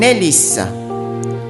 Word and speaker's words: hélice: Son hélice. Hélice, feminine noun beginning with a silent H.